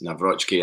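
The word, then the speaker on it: Nawrocki: The two signs, by the way, I feel bad that I didn't pronounce Mike Navrochki's name properly, because he corrected anybody saying it wrong on, I think it was like an ask. Navrochki questions on the Celtic Twitter, and he said it's Navrotsky, and I should know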